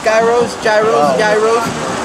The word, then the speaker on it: gyros: They have cheesesteaks, falafels, gyros, and that rhymes with yos.